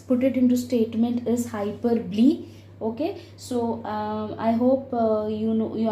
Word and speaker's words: hyperbole: But the correct word what I would suggest you all to pronounce it is hyperbole.